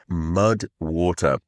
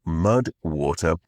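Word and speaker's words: MUD\WTR: today's podcast comes in mud water and it is spelled mud wtr so mud water it is a popular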